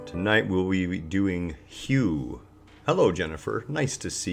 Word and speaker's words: Hu: it's hu and it's pronounced just like hue as in Hugh Hefner for example or huge axe or Howard Hughes you know it's it's